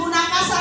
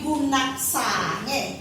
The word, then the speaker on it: gunaksa: Yang diminta bukan gunakasa tapi gunaksa, ya, yang diminta gunaksa, maka sa-nya nanti anak-anak harus gempel.